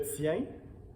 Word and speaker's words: tien: associés au sujet le tien le tien la tienne la tienne les tiens donc on peut encore voir que le masculin singulier pluriel c'est la même prononcée très nasale tiens mais le petit déterminant